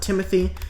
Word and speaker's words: Timothy: Over here is our resident Sakasukas, Timothy. His name was misspelled by my co-founder, but it is still pronounced Timothy.